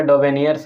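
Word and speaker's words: Döbereiner: René नाम इनका है थोड़ा स्पेलिंग इनका अटपटा है डो वेनियर्स ट्रेट नाम हालाकि उनका डोब नियर्स है और वह जो दिए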